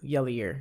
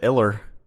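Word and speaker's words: Ilir: Yair, I-L-I-R. I think it's Yair. I just thought it was an Iller. No, it's Yair Latifi.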